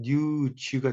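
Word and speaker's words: news: 요 발음은 지금 여기 우리는 뉴스라고 하지만 이걸 영어식으로 할 때는 뉴즈가 됩니다. 여기 스 발음이 아니라 지 발음이 되는 거죠.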